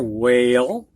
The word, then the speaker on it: whale: in and here are words in which the WH has a silent H in it and here's my whale